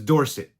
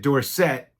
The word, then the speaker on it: Dorsett: Now, when he was in college, his name was Dorsett. Somebody came up to him and mispronounced it Dorsett, and he thought that sounded fancier as he was getting famous. So he changed the pronunciation to Dorsett, which he got a